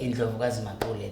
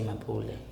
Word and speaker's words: Ndlovukazi Mapule: Ndlovukazi Mapule, that's how you say it. You can't say Mapule.